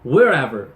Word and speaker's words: wherever: Wherever 이렇게 발음하실 수 있었던 걸 wherever 이렇게 강세를 제대로 넣어주셨고요.